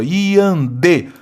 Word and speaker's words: iandê: O termo iandê, o acento se justifica pelo fato de a sílaba tônica recair na penúltima sílaba? Não, última sílaba. Tá aqui, olha, iandê. Palavra oxítona terminada em E.